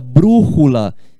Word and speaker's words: brújula: Tão todas são acentuadas é o caso da palavra brújula que significa bússola tá vendo ó brújula bula proparoxítona em espanhol chamou de esdrúxula é só você associar